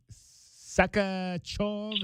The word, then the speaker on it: Sakharov: Sakharov, is that how you pronounce that one? Yes. Sakharov. Yes.